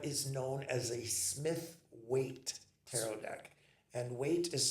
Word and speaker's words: Waite: This is what is known as a Smith weight tarot deck and weight is spelled w ai t.